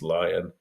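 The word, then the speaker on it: Alex Lyon: the net is uh Alex uh Leon or Lyon I think it's pronounced lion um but you know a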